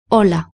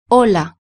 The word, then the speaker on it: Hola: Hola. Du point de vue de la prononciation, c'est très facile. En espagnol, on prononce toutes les lettres sauf le H.